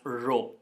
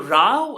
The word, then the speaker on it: row: pronounce it toe and that manner will be pronounced as row it means a queue right a queue but